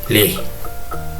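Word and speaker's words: lix: six in Somali is Lee Lee and there's an X there also so it's funny how Somali language this the X kind of is silent when it's being pronounced in kenin number six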